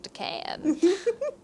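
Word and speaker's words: de Calne: And from what I read, I thought that it was supposed to be pronounced Richard de Can, like the L is silent.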